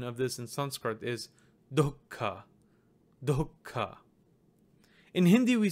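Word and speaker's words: दुःख: get do who do who so the proper pronunciation of this in Sanskrit is dhoka dhoka in hindi we said we just say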